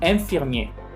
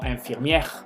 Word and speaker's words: infirmier: Si se fijan, en ninguna de ellas yo pronuncié la R. Y generalmente también me las pronuncian. Entonces, por favor, tampoco me los vayan a pronunciar. Y infirmier, policier, premier, boulanger. No infirmière, policière, première y boulanger. Incluso si las pronuncian las R's, es como si estuvieran hablando en femenino.